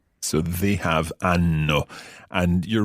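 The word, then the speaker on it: hanno: good just one thing in italian we don't pronounce age okay but it's mute so instead of hano it would be anno so they have ano and you're right enough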